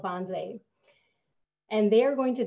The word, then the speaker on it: Wannsee: take place there and in german language w's are pronounced as a v for our language so it even though it's spelled with a w is pronounced bonsai so on january 20th